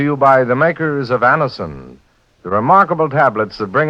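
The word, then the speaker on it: Anacin: Just ask for Anison at any drug counter. It's spelled A-N-A-C-I-N. Anison.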